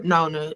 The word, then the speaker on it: Nonna: Vittoria often sneaks out at night, worrying their Nana, or Nona is how they say it, who fears demonic forces are returning.